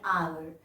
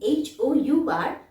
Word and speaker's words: hour: not pronounced like an hour. Here H is silent and the word begins with a vowel sound A. So as we are writing H-O-U-R, but we are pronouncing hour.